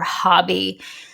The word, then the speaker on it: Hobbii: I have a tendency to pronounce it Hobie. The president of the company kind of said it Hobie.